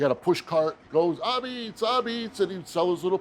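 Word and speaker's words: apizza: But you don't call it pizza around here. My grandfather first used to say, Abits.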